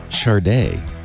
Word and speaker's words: SADE: episode 617 recorded Wednesday April 17th 2019 it's pronounced Xbox one sharda windows weekly is brought to you by wasabi